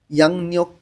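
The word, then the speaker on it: 양력: ইয়াং নিয়োগ কোয়া নিয়োগ, উচ্চারণটা আমি বোঝাই দিই। ইয়ং বাচ্চিমের পরে যখন রিউল আসে তখন এই রয়ের উচ্চারণটা ল না হয়ে ন উচ্চারণ হবে।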